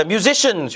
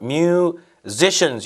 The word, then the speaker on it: musicians: 자, musicians 요 발음 잘 하시기 바랍니다. musicians 여기 Z 발음 나면서 musicians.